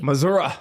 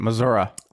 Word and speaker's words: Missouri: Missouri. Missouri. Yes. Is that how you say it? That's how Missourians say it. Missouri. I'm not from Missouri, so we're going to say it Missouri.